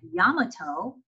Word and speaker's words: Yamato: japanese japanese american community at yamato and yes that's how they pronounced it located west of what